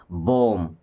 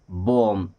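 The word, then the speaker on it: bomb: बी ओ एम बी। एम के बाद बी मतलब बी गया। क्या पढ़ेंगे? बम। क्या पढ़ेंगे? बम।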